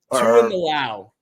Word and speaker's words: Tuimoloau: How do you pronounce my man on the edge? JT Tuimoloau? Tuimoloau. Tuimoloau.